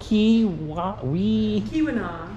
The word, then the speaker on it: Keweenaw: First question, how do you pronounce this place? Keweenaw. Keweenaw, thank you.